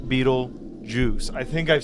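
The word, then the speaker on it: Betelgeuse: way it is because it's spelled Beetle gout Beetle G like the the star but they say it Beetle Juice I think I've said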